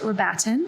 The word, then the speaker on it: Rabatin: enjoy this week's guest is the wonderful page we're batting which i always do this that is the correct pronunciation of your last name right paige yes